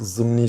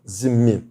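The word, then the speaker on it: zimmî: de e zimmi deniliyor bazıları bunu yanlış olarak zımni şeklinde telaffuz ederler zimm veya Türkçe telaffuzla zimmi yani onlar bizim zimme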